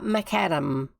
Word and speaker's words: macadam: Tar macadam. Which way how do you say it? How's it meant to be said? Macadam, because it's named after a guy called Macadam who invented it, if memory serves.